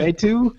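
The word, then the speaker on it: Éric Mettout: L'Express's editorial director Eric Metu, I don't know why I was going to pronounce this with an English Eric accent. Metu, is that what you were going to say? Eric Metu acknowledges ads can be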